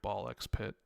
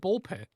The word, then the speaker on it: BALL x PIT: Have you tried Ball Pit yet? Right. Not yet. I have not tried Ball X Pit.